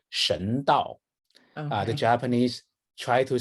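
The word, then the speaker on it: 神道: The two Chinese characters are the Chinese pronounce it Shen Dao.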